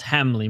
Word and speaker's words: Hamley: I've been mispronouncing his name this whole time saying Hamil. It's Hamley.